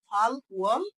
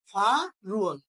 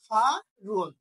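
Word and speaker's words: 팔월: তাহলে এমনিতে ভাঙা উচ্চারণ করলে হয় ফাল ওয়াল, আর একসাথে উচ্চারণ করলে কি হয়? ফা রুয়াল। কি উচ্চারণ হবে? ফা রুয়াল।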